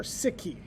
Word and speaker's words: Sikh: So let's move to sikism or siki. Sik is pronounced like the English word sik.